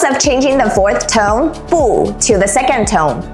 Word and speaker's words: 不: the rule here is if bu is followed by another fourth tone, it changes to second tone. Why? To make the sentence flow more naturally and avoid having two strong falling tones in a row. Like 不错 would sound too abrupt and heavy if we use fourth tone for both words, like 不错. Mandarin naturally avoids that, so we say 不错, changing the fourth to second tone.